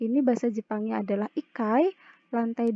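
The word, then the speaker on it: 一階: Ichi ditambah kai, jadinya tidak ichikai, melainkan ikai. Ada perubahan pelafalan di sini. Ada perubahan kata di sini. Jadi bukan ichikai, melainkan ikai.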